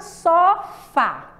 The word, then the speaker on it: sofá: Então, a palavra sofá. Sofá. Onde é que é? Qual é a sílaba mais forte da palavra sofá? O fá. Não é porque a gente pronuncia com mais força.